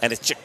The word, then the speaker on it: Anisic: I asked him how to pronounce it. He goes, Anisic. Okay. Anisic with a little CH. But he had the accent with it, which I don't.